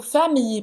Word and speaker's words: famille: não falou a pronúncia do famille, porque ele disse família, não foi? Famille, como se fosse um i longo.